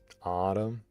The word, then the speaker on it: autumn: Autumn.